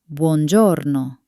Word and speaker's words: Buongiorno: Buongiorno. Notice that we don't say giorno. We say giorno. The E is silent, but it transforms the sound into that beautiful soft Italian J.